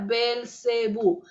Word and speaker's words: Belcebú: nombre de satanás y también se pronuncia a belcebú nombre de satanás ya